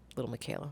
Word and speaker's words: Lil Miquela: Yes, Lil Miquela.